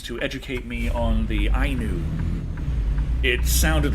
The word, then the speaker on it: Ainu: Not Inu, Ainu.